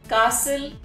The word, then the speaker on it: castle: it's not castle it's castle and we do not pronounce the letter t in this particular word yes all of us